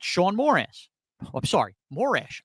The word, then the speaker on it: Morash: Oh, I'm sorry, Morash. I just said my name wrong, and I called myself Morash. Shaun Morash. Terrific.